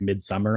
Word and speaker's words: Midsommar: it tells you like mid-summer on Google um Ari Aster I think pronounces it as mid-summar so I guess if